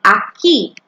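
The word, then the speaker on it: aquí: please tell me here in Spanish by saying Aki and it's spelled like this I'm going to post it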